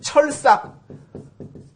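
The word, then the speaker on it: 鐵索: 요 찾을 색자 같은 경우도 뭐 색인, 사색 그럴 때는 찾을 색으로 읽지만은 그 철삭, 쇠철자 약자 이렇게 쓰죠.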